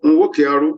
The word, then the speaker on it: Nwokearu: However, in the case of Nwokearu versus the state, Nwokearu is spelled N-W-O-K-E-A-R-U.